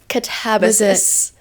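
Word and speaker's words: Katabasis: Now, did we decide how to pronounce this? Catabasis. Catabasis. Yeah. Okay. So, not how it looks, but yes, I have just started that.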